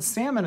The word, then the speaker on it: salmon: The word salmon is now pronounced as salmon in some areas because people see that L and want to pronounce it.